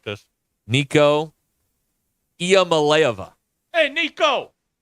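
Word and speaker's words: Iamaleava: personnel and at long last I have the pronouncer for Tennessee's quarterback are you ready for this I don't like this Nico IAM malova hey Nico e malova how about Pokey he's coming here I mean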